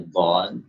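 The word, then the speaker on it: ض: Wa tafkhimiha, juga tidak memperhatikan dalam menebalkan dhad. Jadi pengucapan dhadnya kurang tebal. Padahal dhad ini di samping dia memiliki sifat isti'la, ya, konsekuensi dari sifat isti'la itu adalah suaranya, suara yang keluar itu menebal.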